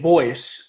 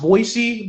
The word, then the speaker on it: Voycce: And so eventually I like came across the name Voice. I was originally pronounced Voicey, but then I was like, nah, I don't want to be called that. I want to be called Voice.